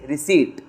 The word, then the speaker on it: receipt: You call it receipt, it is okay and this is not a receipt, this P is silent, it is yours, it is receipt.